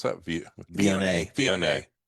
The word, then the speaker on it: Viognier: Pine Ridge Chenin Blanc and how do you pronounce that? Viognier? Viognier.